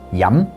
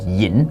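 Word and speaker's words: 飲: The verb to drink in Cantonese is yam, but in Mandarin, they now use the word 喝. But those characters, se and yam, and in Mandarin they're pronounced shi and yin, they still retain their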